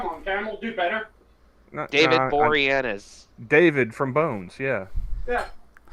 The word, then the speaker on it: Boreanaz: Yeah, no, David Boreanaz, my bad. I never know how to pronounce that dude's name, so I just call him the dude from Bones.